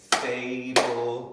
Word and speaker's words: fable: Now the thing is, we don't hear that L, we don't have hear that E with the L-E.